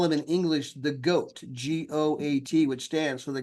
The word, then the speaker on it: GOAT: In fact, they call him in English the GOAT, G-O-A-T, which stands for the greatest of all time.